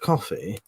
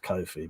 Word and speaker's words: Ko-fi: me off at least coffee the what the what actually I've looked at it's actually pronounced Kofi but I can't be